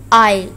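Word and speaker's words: aisle: आइल इसको पढ़ेंगे आइल, एस इसमें साइलेंट है।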